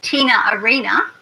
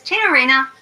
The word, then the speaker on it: Tina Arena: you this person's name, I can say it like this, Tina Arena, or it could be pronounced like this. Tina Arena. Okay, so it's Tina Arena. He's using this phenomenon, this connected speech process, the intrusive R, and it's very, very common in Australian English, but I'll talk about